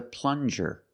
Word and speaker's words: plunger: This is a plunger. Plunger. Use the regular N and the JJ- sound like juice. Plunger.